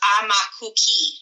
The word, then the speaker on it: Aumakua-ki: But it's really, and it's the best way to remember how to say it is I'm a cookie. It's AUMAKUA-KI. So it's Aumakhua-ki. But it sounds like you're saying, I'm a cookie.